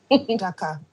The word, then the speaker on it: Adaka: Ma'am, am I pronouncing your name correctly? Is it Adaka or Adaka? Sorry. Adaka.